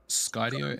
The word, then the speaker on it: Skydio: Skydio, SKYDIO.